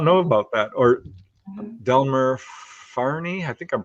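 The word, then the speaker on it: Fahrney: or Delmer Farney, I think I'm pronouncing that right.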